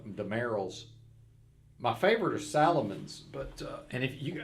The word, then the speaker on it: Salomon: and I know it's people say Solomon but it's spelled Salomon so I call them Salomon but Solomon uh that's